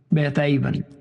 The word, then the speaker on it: Beth Aven: Beth Aven is how you would pronounce that.